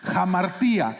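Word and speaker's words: ἁμαρτία: Primero que nada, la palabra pecado viene de un vocablo griego que se pronuncia jamartía.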